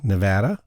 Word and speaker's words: Nevada: Nevada is the correct pronunciation.